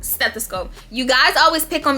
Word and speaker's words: stethoscope: a littman 3 classic stethoscope stethoscope you guys always pick on me on how i say that some of y'all be like the s is styling you pronouncing the t too much stethoscope y'all know what